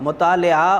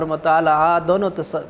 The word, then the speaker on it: مطالعہ: کہ بہت وسیع تھا۔ مطالعہ اور مطالعہ دونوں تلفظ درست ہیں بچوں۔ تو کہتے ہیں کہ